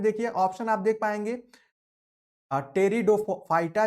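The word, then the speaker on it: Pteridophyta: टेरिडोफाइटा जो है, इसमें पी साइलेंट होता है।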